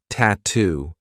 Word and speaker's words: tattoo: T what's the attire another word that I love for practicing the true te is is tattoo we have two true T sounds TT and then two